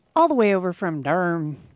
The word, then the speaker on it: Durham: You all have been listening to Keegan Heron all the way over from Durham. You say it with one syllable? Oh, yeah. Durham. All right, Durham.